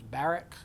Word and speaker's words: Barak: Barak, it's pronounced a lot of different ways. The best pronunciation I could find in Hebrew was Barak, so forgive me if that's wrong.